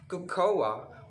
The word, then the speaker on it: cocoa: word is coco coco this is spelled as c-o-c-o-a or mispronounced by everyone as cocoa or kikayo but it's not it's very wrong